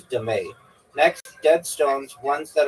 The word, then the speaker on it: dame: known as dame pronounced dé. Okay, also known as dé.